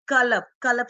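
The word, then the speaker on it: كلب: Like qalab spoken from the throat, and kalab spoken from the tongue, k sound.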